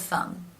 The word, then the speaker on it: thumb: together mm um and the B here is silent rule of thumb